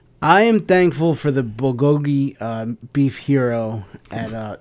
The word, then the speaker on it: bulgogi: yeah tell us a little bit about the bukaki sandwich at Parkside Deli oh it's actually pronounced bulgogi uh-huh sure it is okay I don't have